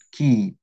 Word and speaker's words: que: Sekarang yang kedua ke ini bacanya ke ya.